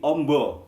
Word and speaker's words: Amba: po ada oh nah Amba dibaca Oh menjadi Ombo yang artinya luas tapi di Jawa juga